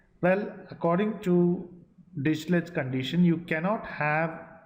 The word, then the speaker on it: Dirichlet's: It is pronounced as Dirichlet's condition.